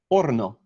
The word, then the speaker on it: horno: It's spelled F-O-R-N-O, and in Spanish uses the term horno, H-O-R-N-O. Now, this is a little bit of a sideways one because you don't pronounce the H in Spanish, but the spelling has kept it, which makes it a good example for the people watching.